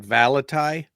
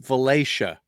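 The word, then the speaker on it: Valatie: a l a t i e looks like valai right it's pronounced valaya that's interesting because that's like great town I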